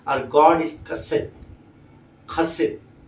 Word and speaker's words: chesed: अभी आप इसको चेस्ट बोले, ये वो, मैं भी ऐसे ही समझा था, पर जब मैंने इसको खोजा तो प्रोनाउंसिएशन बहुत ही अलग है। स्पेलिंग है CHESED, पर इसका प्रोनाउंसिएशन होता है खसेट, खसेट, है ना। अब उसमें जो डी है वो बहुत साइलेंट है, खसेट ऐसा बोला जाता है।